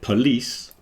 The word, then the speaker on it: police: sh on the end but police you got the the stress is moving to the second part so the first syllable is p like a schw is reduced down and then the second part is lease so polish and police